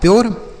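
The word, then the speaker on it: pure: पी से हो गया प, यू का उच्चारण यो तो हो गया प्यो। आर ई से र, यह लिखा है प्योर।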